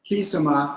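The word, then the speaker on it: Quisama: The Brazilian equivalent is Kisama, but spelled with a Q-U-I-S-A-M-A.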